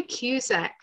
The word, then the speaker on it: Cusack: Cusack, and I'm not even sure, am I pronouncing it correctly? Well, we say Cusack.